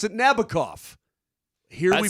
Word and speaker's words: Nabokov: Sting would pronounce it Nabokov. Here That's we pronounce in the song, Sting's referring to the book Lolita, which was written by Vladimir Nabokov.